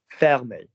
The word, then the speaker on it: fermer: So I'd like you to now acknowledge that FER has the same freaking vowel in the middle. So what's that going to be? Ferme. Fermer.